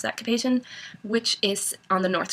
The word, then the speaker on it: Cap-Haïtien: area in the center of Haiti, and then Cap-Haïtien, I always mispronounce that, Cap-Haïtien, which is on the North Shore and is absolutely beautiful.